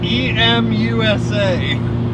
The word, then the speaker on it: EMUSA: it's coming to me e-m-u-s-a e-m usa branded uh it's pronounced emusa i don't know the musa emusa uh ebay turbo muffler